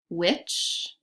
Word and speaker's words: which: I wear a sweater when it's cold which which is a homophone word also an example sentence